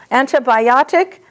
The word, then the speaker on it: antibiotic: When it's ANTI, it's anta, like anta, antibiotic, antibody.